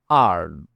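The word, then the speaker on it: earn: কাম আরলি কাম আরলি আরন আরন মানে উপার্জন করা এখানে ই উচ্চারণ হবে না ফর এক্সাম্পল আমি টাকা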